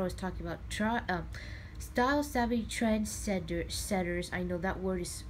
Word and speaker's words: Trendsetters: you want to call it Trensetters, not senders, not Trensetters. And I accidentally even call it transgenders a couple times, because it's just that word that seems like you can confuse easily or just say it wrong.